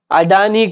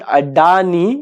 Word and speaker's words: Adani: company shares are there adani companies Shares are there actually it is not adani it is adani okay I also pronounce sometimes wrong so I correct myself so Reliance shares adani